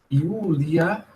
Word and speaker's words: Iulia: Iulia, esse U é longo, Iulia et Silvia quoque.